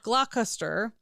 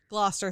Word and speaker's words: Gloucester: rather infamous affair with Prince Henry, Duke of Gluster, who is the son of George V, who apparently Gloucester.